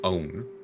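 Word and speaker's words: Eoghan: The Irish name Own has a fucking B in there, and a G.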